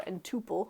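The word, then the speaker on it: n-tuple: an ordered triple or an ordered n tuple or in tuple you might hear it pronounced so with that i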